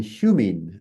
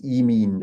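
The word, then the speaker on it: ὑμῖν: vowels without eticism again, because hemin, I'd be pronouncing classical Greek, becomes emin with eticism, and humin, as classical Greek would pronounce it, becomes emin as well.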